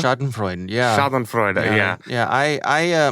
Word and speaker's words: Schadenfreude: I'm not going to, I don't know, how do you pronounce the word? Schadenfreude? Schadenfreude, yeah.